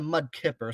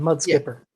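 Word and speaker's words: mudskipper: mud Atlantic mud skipper I always heard it being pronounced the Mud Kipper so I guess I'm just wrong on that mud skipper yeah Skipper so anyway so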